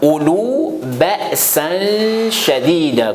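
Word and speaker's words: أولو بأسا شديدا: Il ne faut pas prononcer le double A. Ça reste simple A, mais il faut prolonger le simple A. Je répète ça. Ulu ba'san shadidan, la vérité.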